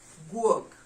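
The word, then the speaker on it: guok: you book you know like you dog so work work how do we spell it g-u-o-k that is how you'd call a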